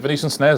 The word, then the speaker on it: Venetian Snares: venan snares love them is it venician snares have I said it right yes yeah I love